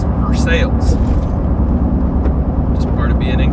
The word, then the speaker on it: Versailles: going to be called versailles road if you were from outside of lexington you would say versailles but here in kentucky versailles is pronounced for sales just part of being